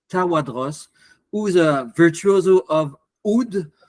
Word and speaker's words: oud: Joseph Tawadros, who's a virtuoso of oud or oud in the Arabic pronunciation, and also a contemporary composer.